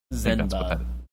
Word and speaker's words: Zenva: Zenva. Yeah, Zenva.